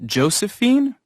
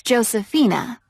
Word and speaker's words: Josefina: Is your first name Josephine? Actually, it's Josephina. It's spelled J-O-S-E-F-I-N-A.